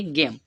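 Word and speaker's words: game: मा से बनाते हैं एम ई हमारा साइलेंट रहेगा तो इसे हम क्या पढ़ेंगे गेम क्या पढ़ेंगे गेम पढ़ेंगे ठीक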